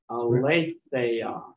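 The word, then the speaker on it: ἀλήθεια: Second letter has to be epsilon iota. There you go. And it rhymes with what word? Eight. There you go. Eight. Aletheia. Aletheia.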